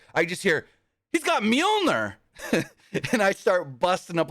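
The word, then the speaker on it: Mjölnir: horn hey since Saturday if you're going to say it say it right don't say had a Thor Thor moment with the hammer don't say the hammer Call It by its real name mner it's Milner uh yeah kid vicious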